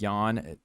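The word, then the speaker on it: Yan: Jessica andrage versus soundman Yawn is how they say it now andraj 24 and 10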